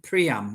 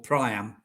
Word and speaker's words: Priam: And Peter O'Toole's King Priam, or Priam, however you want to pronounce it.